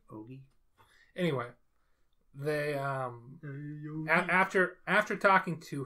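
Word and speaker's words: Ougi: I don't think they pronounce it Ouija, but that's what it looks like. I thought it was Oja. Yeah. It's O-U-G-I. Okay. Ogi, maybe? Ogi.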